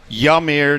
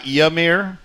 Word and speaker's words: Yamir: My yearly post on how to pronounce my name. Yamir, not Yamir. That am I got it right? Yes, sir. A lot of people uh call me Yamir, but my name is Yamir.